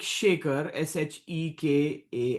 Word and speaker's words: Shekar: Yeah, it's like Shekar, Shekar, like, but it's like it's not. It's like salt and pepper shaker, but it's Shekar is how it's phonetically like written, and, Nat as